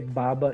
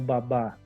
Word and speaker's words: baba: um substantivo tá e como é que eu sei que é baba e não babá porque eu não tenho nenhum acento aqui que indique que a sílaba tônica é a última e quando a última sílaba tônica é terminada em a é uma oxítona nós temos que acentuar vocês vão ver isso